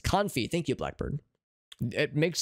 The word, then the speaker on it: confit: It is pronounced confit.